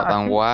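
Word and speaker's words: danois: Y la regla dice que la consonante final no se pronuncia.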